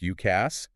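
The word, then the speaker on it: UCaaS: Then you've got UCA, pronounced UKASS.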